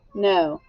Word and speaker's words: know: n is silent or the k is silent you hear the n and the o w makes the sound of long o no all right let's trace